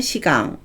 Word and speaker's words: 志願: 지원을 시강, 시강이라고 하고요.